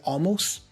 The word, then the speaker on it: almost: I don't really pronounce the T for almost. I drop it, so I say almost.